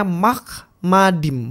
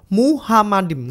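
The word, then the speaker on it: מחמדים: Jadi bacanya makmadim bukan muhamadim. Enggak ada huruf H di sini.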